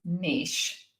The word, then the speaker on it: niche: The word that no one knows exactly how to pronounce. I looked it up. It's niche. That's what they say.